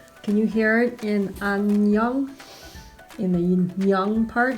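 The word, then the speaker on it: 안녕: So when this Korean letter ends the syllable, it's pronounced NG. So when you're missing the part of Ahn Nyeung, where do you think you should write it here?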